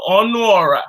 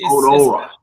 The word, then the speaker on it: Ọnuọra: I said the A is silent, I guess. No. Ọnuọra. So it's Ọnuọra. Ọnuọra. Ọnuọra. Yeah. So it's the U.